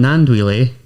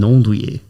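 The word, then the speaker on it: Gnanduillet: Well, there's the posh French pronunciation or Both. what we go with. So Let's hear both. so it could be Armand Nandouille or Armand Nondouille.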